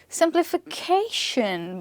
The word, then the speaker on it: simplification: Simplification. But this one here is not stressed on sim. It's stressed on K.